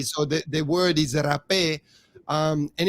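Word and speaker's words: rapé: a h so an english person will probably pronounce it rape right it's the same spelling with a h at the end but with an accent on the e so the the word is rape um and it's it's also plant medicine that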